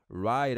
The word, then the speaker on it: right: que não tem vergonha right Away ST vai ficar com som de R E vai falar rá esse GH não é pronunciado então é ficar rye